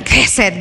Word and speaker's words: hesed: ked yung word na ang spelling po diyan hesed pero ang pronunciation po may konting gal sa sa lalamunan ked Ganon hindi ko po